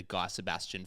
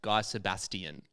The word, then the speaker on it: Guy Sebastian: I've spoken a bit about it on this show before, but my family group chat is actually named the Guy Sebastian Fan Club.